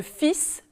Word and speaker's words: fil: Comparez par exemple un outil, le L n'est pas prononcé, et un fil, le L est prononcé.